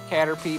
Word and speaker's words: Caterpie: We finally Find out found after Caterpie. this. Well, it's an enemy trainer, so... we Also, can't I know take this it's Pokemon. supposed to be pronounced Caterpie, but its name is Cater Pie.